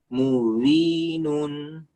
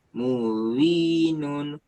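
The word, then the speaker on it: مُبِينٌ: Seperti gini. Mubinun. Mubinun. Nah, itu sempurna. Kalau yang tidak sempurna kayak gini. Muwinun. Muwinun. Muwinun. Nah, itu. Ada orang yang bacanya seperti itu.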